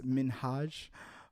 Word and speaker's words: Minhaj: People don't People always mispronounce his name. It's Minhaj.